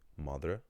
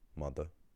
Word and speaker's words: máthair: If you say máthair instead of máthair or máthair then you're using a Munster word.